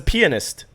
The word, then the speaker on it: pianist: It's a pianist.